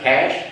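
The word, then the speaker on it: Cache: house that he built and how do you pronounce it cash cage cash c-a-c-h-e cash obama is still there sadly it's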